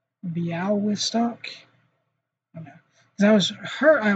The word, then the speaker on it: Białystok: It's actually closer to Białystok, I don't know, Białystok, whatever that is, that weird L thing that does not. I think it just sounds like a W, right? Białystok.